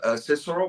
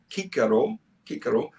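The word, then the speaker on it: Cicero: means sometimes they have a meaning for example cisero which actually is pronounced Kiko Karo that's the chickpea I think BR Brutus Brutus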